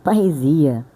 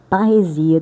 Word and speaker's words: parresia: Eh, paresia é é uma pronúncia grega, né?